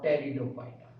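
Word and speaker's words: Pteridophyta: Cryptogams, जिसके अंदर हमारे पास तीन आते हैं, थैलोफाइटा, ब्रायोफाइटा और टेरिडोफाइटा। टेरिडोफाइटा का पी साइलेंट रहता है।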